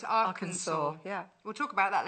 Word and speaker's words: Arkansas: So what did I called it Arkansas. It's not. It's Arkansas.